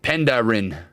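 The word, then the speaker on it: Penderyn: It's pronounced Penderin.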